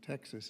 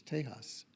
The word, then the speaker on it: Tejas: Texas isn't Texas, it's Tejas.